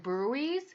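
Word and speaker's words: bruit: again about with those karate breweries that's how you pronounce it but again the spelling is b-r-u-i-t we talked about those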